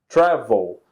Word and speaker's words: travel: of the verb travel travel so the stress, the strong syllable is the first not the last so in this case